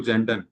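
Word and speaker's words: Zanden: अब यह 1989 में दूसरे मनोवैज्ञानिक थे जेड ए एन डी ई एन यह भी जेंडर ही बोलेंगे प्रोनाउंसिएशन में तो ठीक है इन्होंने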